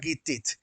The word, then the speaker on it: Gittit: Se pronuncia Gittit.